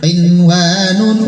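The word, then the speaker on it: قِنْوَانٌ: Qinwanun, ulangi. Qinwanun, qinwanin, qinwanun. Bacaan apakah yang berwarna merah? Izhar mutlaq, nun sukun bertemu waw dalam satu kalimat, jelas bacanya.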